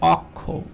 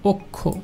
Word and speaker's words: অক্ষ: এখন দেখেন অক্ষ, অক্ষ, তো এটাকে অনেকে উচ্চারণ করে অক্ষ, অক্ষ, এটা কিন্তু ভুল উচ্চারণ, কারণ এখানে শব্দের শুরুতে কী রয়েছে? স্বরে অ রয়েছে, দেখুন স্বরে অ রয়েছে, এই স্বরের পরে দেখেন খ রয়েছে, তাহলে অবশ্যই এই উচ্চারণটা অক্ষ হবে না, এর উচ্চারণটা হবে অক্ষ, এর উচ্চারণটা কী হবে? অক্ষ।